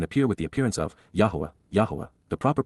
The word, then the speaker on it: Yahowah: to face and appear with the appearance of, Yahowah, the proper pronunciation of the name of Eloah, God as directed in his Torah, teaching regarding his Haya.